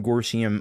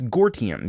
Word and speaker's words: Gortium: Of course, we're gonna have some Gorsium on, or actually it's Gortium. See, that's what I was pronouncing it wrong all this time.